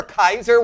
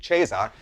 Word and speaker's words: Caesar: What are you, like some Roman emperor, Kaiser, which is the original Latin pronunciation, by the way, not the ecclesiastical, which would be Caesar.